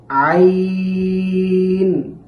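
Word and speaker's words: عين: আইন আইন। আইন উচ্চারণের সময় হলক অর্থাৎ কণ্ঠনালীর মধ্যবর্তী স্থান থেকে আইনটি উচ্চারণ করতে হবে। আইন। আইন যেন আবার আইন এমনটা না হয়।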